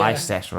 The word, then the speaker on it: Leicester: it should be pronounced, but no one. Yeah. It's like Americans call Leicester Leicester, don't they? Yeah. Leicester.